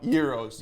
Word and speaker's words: gyros: Euros. Euros. He is going to show us, we have pulled venison already boiled. He's going to put some seasoning on it. We're going to make Euros.